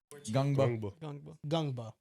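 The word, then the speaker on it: Ngongba: I think might be gangba pronunciation YouTube video gungba. So it's not ganga, it's gungba.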